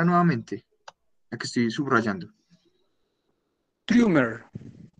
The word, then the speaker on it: Trümmer: Trümmer. Ah, bueno, ahí sí la pronunciaste bien. Es que ahorita pronunciaste como Troimer, algo así, pero no es.